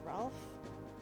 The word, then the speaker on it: Rolf: a new person named rolf apparently it's supposed to be ralph pronounced ralph but i guess probably still